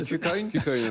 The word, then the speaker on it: KuCoin: Non, c'était sur la prononciation. Je demandais confirmation. La Joker. On dit KuCoin. KuCoin.